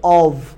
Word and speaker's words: of: যে ও এফ আছে যখন এটা একটা এফ থাকবে তখন কিন্তু উচ্চারণটা অফ হবে না হবে হচ্ছে অভ ঠিক আছে অভ ঠিক